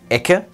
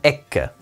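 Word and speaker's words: ecce: Also heißt das Wort für Schau siehe da nicht Ecke, sondern Ecke. Außerdem wird das M am Ende eines Wortes nasaliert.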